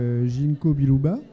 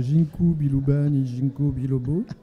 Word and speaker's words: ginkgo biloba: ton écriture le fixe ginkgo biloba que je prononce correctement chez un c'est pas ginko biloba et donc c'est ce